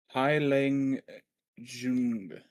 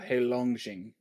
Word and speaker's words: Heilongjiang: Haileng Jung, I think. Let me play it. Oh, Heilongjiang. Yeah, I Heilongjiang. wasn't very close.